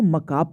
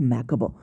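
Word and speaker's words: macabre: इसको मकाब पढ़ते हैं, नॉट मैकबर। इसको मकाब पढ़ते हैं, बहुत लोग मकाबर मैकाबर पढ़ते हैं, लेकिन नहीं, इसको मकाब पढ़ेंगे।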